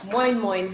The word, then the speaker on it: moin moin: I'm not sure how else to describe it, but that is moin moin. Moin moin. That's M-O-I-N. Some people spell it without the N's, but it's moin moin.